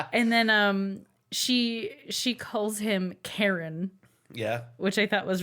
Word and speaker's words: Chiron: And then she calls him Karen. Yeah. which I thought was really cute. Like Karen, like Karen. Like it's spelled Chiron when he introduces himself, but when she says his name, she says Karen, Karen.